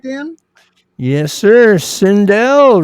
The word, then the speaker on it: Sindel: Sindell rhymes with hell.